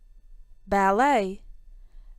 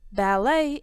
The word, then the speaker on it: ballet: from espresso English dotnet ballet ballet is a classical type of dance it can be danced solo in pairs or in groups the T in ballet is silent ballroom dance is danced